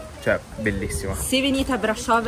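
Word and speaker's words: Brașov: di arrivare San Salvi la mia pronuncia è corretta Brasov Sì sì brava brava siamo finalmente arrivati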